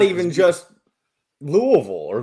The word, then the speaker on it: Louisville: proper here Louisville but any city in Kentucky that has Ville in the name the people around here put Vol instead of Vil whether it be Pikeville they say Pikeville or Danville you know why that's a that's a that's a that's a very that's a Southern Country thing it is that's you know instead of taking the time to enunciate every aspect of the syllable yeah they shortened it we've also got Versailles